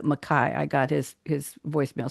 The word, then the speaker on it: McKay: It spells it McKay, but it pronounces it Mai.